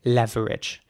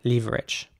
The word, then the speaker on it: leverage: of saying it though so the British English way would in my opinion be to say leverage to pronounce the e at the beginning more like an e again not like an air or air the American way would